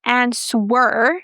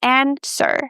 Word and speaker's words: answer: So guys, in the word answer the w is silent. So it's not answer, it's answer.